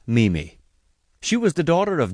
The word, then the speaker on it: Mimi: Amelia Sturgis, known to most people as Mimi, pronounced Mimi.